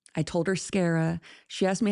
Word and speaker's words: Scarah: I told her Scarra. She asked me how to spell it. I told her like Sarah but with a C.